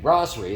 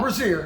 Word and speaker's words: brasserie: We're at Benchmark American Brasserie. Is that how you pronounce it? Brasserie. Brasserie? Yeah, brasserie. Not brazier.